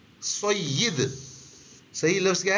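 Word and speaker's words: سید: इसी तरह और भी चीजें, जैसे हम सैयद साहब कहते हैं, सैयद भी गलत है, सय्यिद। सही लफ्ज क्या है? या के नीचे जेर है या मकसूर है, सय्यिद।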